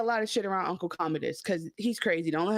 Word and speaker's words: Commodus: Like Commodore, Commodus. Okay. So Uncle, he's like, act. Don't say a lot of shit around Uncle Commodus, because he's crazy.